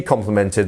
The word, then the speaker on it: complement: spelling each time CU as I said it has the same pronunciation just different spelling and put in the